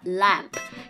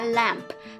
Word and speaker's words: lamp: ก็ ได้ นะ คะ Lamp อย่า ลืม เสียง ท้าย นะ คะ Lamp ถ้า ออก เป็น l a m b นะ B Lamp Lamp แปล ว่า แกะ นะ คะ ดัง นั้น ออก เสียง ให้ ชัด ๆ นิด นึง นะ Lamp Lamp